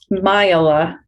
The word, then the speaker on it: Maijala: Maijala.